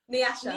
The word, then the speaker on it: Nyasha: because it's it's different so I'm just curious Nasha Nasha okay that's beautiful where is that from